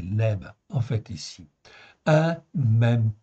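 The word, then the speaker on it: לב: ici si on prend si on prononce à la phonétiique en fait ici donc c'est Lèbe en fait ici un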